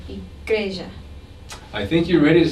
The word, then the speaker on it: igreja: Now here again we have a reduced sound when the final A is unstressed. This is called a schwa. So we say fala instead of fala, and igreja instead of igreja.